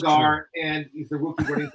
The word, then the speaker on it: Allgeier: And then Ross, he can hear the names pronounced, but he still can't pronounce them. It's Allgeier, and he's the rookie running back from the University.